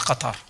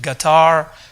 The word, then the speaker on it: Qatar: Qatar did not even know how to pronounce Qatar some of them pronounce it gatar some of them quatar you know but now the